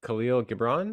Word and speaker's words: Khalil Gibran: out recently um we have the Prophet by Khalil Gibran is that how you pronounce it yeah and I love that book